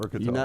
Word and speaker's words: Qatar: It can be pronounced both ways. I don't know how often we have to cover this on this show, Qatar or Qatar.